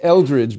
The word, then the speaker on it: Eldridge: It's Eldridge, by the way, with a D after the L. There is a D there.